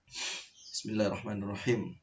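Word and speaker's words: بسم الله الرحمن الرحيم: Jadi ketika ada huruf terus ada tanda tasdidnya, maka bacanya itu harus dinaikkan sedikit suaranya, agak ditekan. Contohnya Bismillahirrahmanirrahim. Seperti itu. Jadi seperti naik sedikit suaranya ya. Nadanya ditekan.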